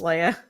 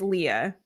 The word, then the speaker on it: Leah: Okay, Leah, but people always pronounce like Princess Leia. Yeah, that's why I asked. Okay, but it's Leah. You know, I find that most people with that spelling, it is Leah, but there's always that one that's the Leia.